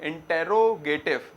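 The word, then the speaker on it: interrogative: फिर होता है इंट्रोगेटिव। स्पेलिंग तो क्या है? इंटेरोगेटिव, मगर प्रोनाउंसिएशन में इंट्रोगेटिव बोला जाता है ज्यादातर।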